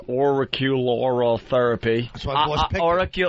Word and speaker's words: auricular: Auricular.